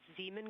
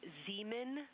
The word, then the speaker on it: Zeeman: Integrity science, we believe that's Zeeman crater. Oh, I floated away from the speaker. Say it again, please. We believe that that is Zeeman crater.